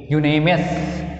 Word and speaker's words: unanimous: U is a vowel written here, but again I want to say it is not working in pronunciation, so we'll write here A. Unanimous means यह अक्षर is working, यह letter is, Y letter is working here. Unanimous.